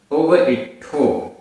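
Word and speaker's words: उवइट्ठो: दंसन दंसन मूलो दंसन मूलो धम्मो धम्मो उव इट्ठो आधा टा ठा ओ की मात्रा उव इट्ठो जिणवरेहिम जिणवरेहिम हा में छोटी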